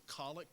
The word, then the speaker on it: collect: here each week is known as a colic it spelled like collect like collection and it it